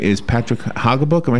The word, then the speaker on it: Haugabook: And to your right is Patrick Haugabook.